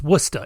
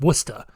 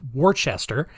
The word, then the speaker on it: Worcester: Massachusetts and it is absolutely pronounced wer it's wora it's pronounced wora W Mass you know even though it's spelled w r c s t r which is you know more properly pronounced Worchester uh but no people from Massachusetts always talk